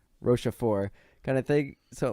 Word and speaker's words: Rochefort: How do you pronounce his name? Rochefort kind of thing.